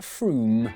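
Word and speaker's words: Frome: from f-r-o-m-e it should be blitheringly obvious it's pronounced froome yeah look at that i was right don't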